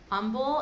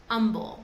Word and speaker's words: Humble: You'll also hear umble and it's spelled humble but it's pronounced umble. We pretend that the h is not there.